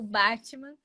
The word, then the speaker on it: Batman: chama Beco do Batman aqui mais uma pronúncia bem brasileira né o Batman que é um lugar